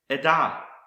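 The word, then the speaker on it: עדה: Another word I want to show you that starts with the letter I and is pronounced Edah.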